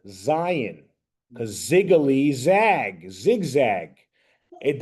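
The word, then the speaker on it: זין: So when you see this, you say Zion. Think Z. Think the letter Z.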